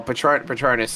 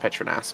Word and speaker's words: Petronas: Well, Patronus is supposed to be pronounced Petronas, but yeah, I get it.